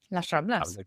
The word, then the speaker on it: Las Ramblas: It just has to make sure that the pinch points like Las Ramblas, go on, pronounce it properly. Las Ramblas.